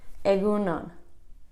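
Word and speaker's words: egun on: morning or good day that's a GU nun penguin on two words aigoo nun good day or good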